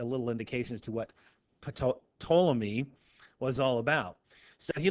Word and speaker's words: Ptolemy: Ptolemy. Now, Ptolemy, the P is silent.